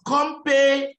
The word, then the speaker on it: company: Compagnie. In English, it's company. Company. Company.